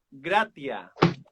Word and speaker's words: gratia: Dice, viene del latín que se pronuncia gratia.